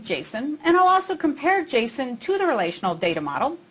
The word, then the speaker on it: JSON: talking about its pronunciation some people call it Jason and some call it Json I did a little bit of investigation and discovered that the original developer of Jason calls it Jason so I'll do that